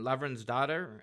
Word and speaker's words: Lavransdatter: Uh there's Kristin Lavransdatter. How do I How do you say that? I always mispronounce that.